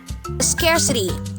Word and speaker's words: scarcity: First is scare. Scare. So, hindi po siya scar. Scare po siya. Then, s. Remember to enunciate the schwa sound. Meron po tayong schwa sound dyan. At ang third syllable ay T. Or you could use the soft D, scarcity.